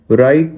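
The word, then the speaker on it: write: राइट में W silent है।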